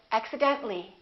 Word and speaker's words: accidentally: when we add accidentally we don't pronounce the a we say accidentally accidentally one more General